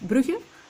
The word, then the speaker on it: Brugge: I did Bruges, or I don't know how you say it in English, but in Dutch it's called Brugge.